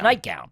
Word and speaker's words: nightgown: There's no D in nightgown. No, it's nightgown.